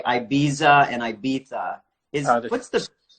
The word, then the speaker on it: Ibiza: The Spanish say Ibiza. They throw the th in there. Yeah. The British say Ibiza. The Germans say Ibiza. The Italians say Ibiza. In Catalan, it's Ibiza.